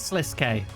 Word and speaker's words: Sliske: Actually, there's no e on the end, so I don't know. Should I Should I check out and pronounce that, too? It is Sliske. Okay. Sliske. I was right the second time.